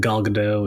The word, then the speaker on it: Gal Gadot: I have some questions in regards to Wonder Woman and Gal Gadot, and is that how you say it?